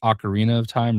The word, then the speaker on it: Ocarina of Time: So, uh, looking forward to, uh, everybody always talks about, it's Ocarina of Time, right?